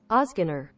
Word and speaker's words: Ozgener: Ozgener. All right, Ozgener family cigars. Bosphurus. See? Don't name your cigar something I can't pronounce, bro.